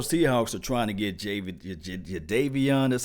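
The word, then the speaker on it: Jadeveon: You look, the Seattle Seahawks are trying to get Java, that's how you say his name, Clowny.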